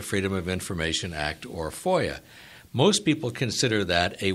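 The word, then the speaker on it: FOIA: we were talking about Foya that's the pronunciation of the acronym fi a stands for the Freedom of Information Act Now the Cong both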